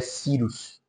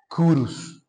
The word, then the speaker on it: Cyrus: Uma pronúncia mais brasileira seria Cyrus. Em latim seria Curus.